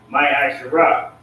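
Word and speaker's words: מעשר: Means 10th in the Hebrew, and is pronounced Ma'asharah.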